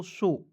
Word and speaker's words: show: SHOW को पढ़ेंगे दोस्तों शो, ठीक है। क्या हो जाएगा दोस्तों? शो। और दोस्तों आपको याद रखना है कि अंतिम में OW आएगा, उसका उच्चारण एक एकले पर मतलब एक एकले का प्रयोग करेंगे, ठीक है।